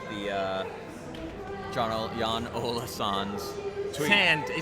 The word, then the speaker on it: Sand: Sand. He pronounced it sand.